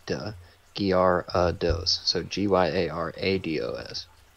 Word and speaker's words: Gyarados: Gyarados.